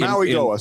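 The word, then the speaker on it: Mauigoa: Mayoa. Mayoa in Maui Goa.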